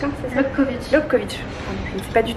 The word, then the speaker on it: Lobkowicz: Du coup on s'est posé au café du musée Lebovitch, hein, c'est ça? Lobkowicz. Je ne sais pas du tout prononcer le tchèque.